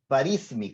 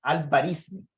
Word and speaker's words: Al-Khwarizmi: Y el libro se llama En el cálculo de números hindúes, en inglés obviamente, escrito por el señor Al-Biruni, Al-Khwarizmi, creo que se pronuncia, Al-Khwarizmi, del 825, que traducido al latín se diría,